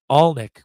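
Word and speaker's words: Alnwick: place by far was Al Nick Alik but it's spelled aln wi that's where the Harry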